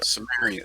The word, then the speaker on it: Sumerian: Uh, Marty, help me pronounce where they're from. Sumerian? Sumerian? Samaria. Yeah. Sumerian.